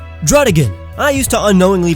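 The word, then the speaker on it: Druddigon: It's a bear, so why would you pronounce it Beartic? Drudigan. I used to unknowingly pronounce it Drudigon.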